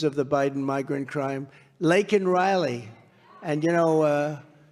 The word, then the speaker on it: Laken: Laken Riley. And, you know, Biden was unable to pronounce her name, called her Lincoln Riley.